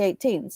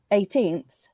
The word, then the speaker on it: eighteenths: different size fractions yeah i said it wrong it's not three three eighteens it's three eighteenths making three eighteenths up